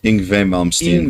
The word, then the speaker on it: Yngwie Malmsteen: Yngwie Malmsteen. Yngwie the Mom's Team.